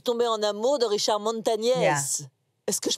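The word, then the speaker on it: Montañez: Je suis tombée en amour de Richard Montagnès. Yeah. Est-ce que je prononce bien? Yeah, Montagnès.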